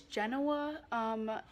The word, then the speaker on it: Genoa: I went to Genova but Americans call it Genoa they don't pronounce the V for some reason and they don't spell it with the V so it's Genoa Genoa it or Genoa Italy and I loved